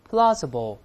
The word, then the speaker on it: plausible: 词了，大声读起来，plausible。